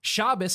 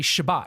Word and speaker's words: Shabbat: just learned yeah it's like Shabbos is actually Shabbat Shabbat okay yeah yeah but you know it's again the European Jews Shabbos nice okay so also